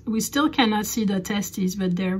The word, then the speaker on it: testes: if you're mentioning to its testes testes te it's a little bit like a potus's and hypotheses so single testers and